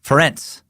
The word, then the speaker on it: Ferenc: It's actually pronounced like Terrence with an F, like Ferenc.